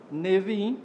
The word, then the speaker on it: Neviim: O termo é formado com as iniciais dos livros que fazem parte da Tanakh: Torá, Neviim, pronúncia atual da palavra Nebiim, Ketuvim, pronúncia atual da palavra Ketubim. Torá é um conjunto formado por 5 rolos sagrados: Gênesis, Êxodo, Levítico, Números e Deuteronômio.